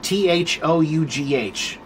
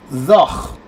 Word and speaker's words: though: The pronunciation of the word though was thoch. Thoch. It had this sound. A long time ago, English had that sound. It's like in Arabic. Arabic also has that sound, right? So, the word used to have that sound at the end of it. They would say thoch. It wasn't though, it was thoch.